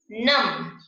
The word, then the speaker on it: नमः: और जब विसर्ग लग जाता है तो उच्चारण कैसे करोगे, अतः। ऐसे ही आगे है नम, बिना विसर्ग के।